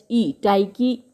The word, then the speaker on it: Tyche: और आप नोट कर लीजिएगा, जो इसका ग्रीक इक्विवेलेंट है वो TYCHE, टाइकी है। मतलब जो ग्रीक गॉडेस ऑफ फॉर्च्यून है वो TYCHE स्पेलिंग लिख लीजिए, टाइकी है।